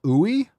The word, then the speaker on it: UI: any concerns with using UI pronounced pronounced Ooey oh yeah Ooey oil